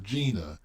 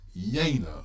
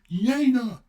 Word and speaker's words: Jena: large Prussian force near Jana and sent news to Napoleon oh yeah no it's not Gina it's Jana okay thank you for